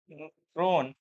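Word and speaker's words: kronor: ये बोलना ऐसे है, आपको क्रोन बोलना है। ये लिखा ऐसे है कि उस पर नजर जाएगी तो आप गलत उसको प्रोनाउंसिएट करोगे, तो 2-4 बार जो है माइंड में आ जाएगा तो क्लियर हो जाएगा।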